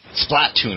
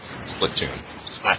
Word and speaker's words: Splatoon: splatoon yeah um uh-huh splatoon i keep saying it wrong it's i keep saying split tune it's split too i think it's platoon i'm pretty sure that's what they said at e3 who cares yeah i